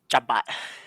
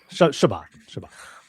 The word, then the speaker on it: Chabot: How did you pronounce his name? Chabot. Did I put the emphasis wrong? It wasn't that bad. It wasn't Chabot. Bad. No. Chabot. Chabot.